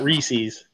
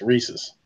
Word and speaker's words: Reese's: It's not Reese's. You gotta pronounce it like you know. It's Reese's.